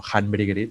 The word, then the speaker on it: Håndbryggeriet: Una cervecera, por si la conocéis, se llama Håndbryggeriet, con dos As, o Handbryggeriet, según se pronuncia.